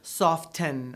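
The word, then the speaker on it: soften: we don't pronounce them no one says soft ten or moist or Christmas why not we say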